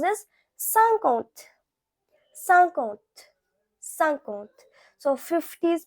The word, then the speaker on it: cinquante: Now 50, so 50 is pronounced as cinquante.